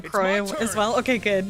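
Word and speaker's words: Crois: Always assume silent s on the croy as well.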